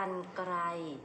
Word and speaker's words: กรรไกร: นี้ ค่ะ ข้อ แรก เมื่อ ระหาร อยู่ หลัง พยัญชนะ และ ไม่ มี ตัว สะกด ให้ อ่าน ออก เสียง เป็น อัน นะ คะ อย่าง เช่น